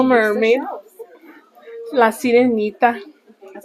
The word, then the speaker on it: La Sirenita: La Sirenita.